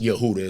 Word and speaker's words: Yehuda: you know, which is pronounced Yehuda, as we really know.